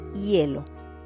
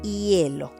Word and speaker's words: hielo: For example, hospital, hermano, hielo. Not hospital, no, you don't pronounce it. Hospital, hermano, hielo.